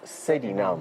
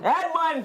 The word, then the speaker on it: Sedinam: This is not how I pronounce my name. Okay, how do you say it? My name is Sedinam. Edmund!